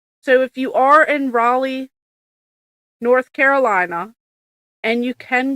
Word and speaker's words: Raleigh: He um, he told me how to say it's not Riley, North Carolina. It's Raleigh.